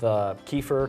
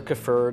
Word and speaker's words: kefir: so the difference with Kieffer kefer depending on what part of the world are how you're going to pronounce it it's like a healthier